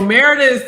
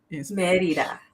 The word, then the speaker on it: Mérida: what's this it's Meridian it's Merida Meredith so Meredith is probably the English pronunciation so let me see if I can get my let me roll my R's Merida yeah in French right